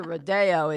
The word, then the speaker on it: Rodeo: way to the airport it's Rodeo Drive but when you get up to rodo it's rodo Drive really old are they are they spelled the same yes so we're laughing so it's Rodeo but when when you're in Beverly Hills it's Rod oh it's just you have to say it that way you say but